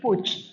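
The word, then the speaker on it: Puig: eh y del por el Prado y Gregorio Solá que es señor de Puch. Puch son los que producen Paco Rabán y se se escribe pu pero se dice puch.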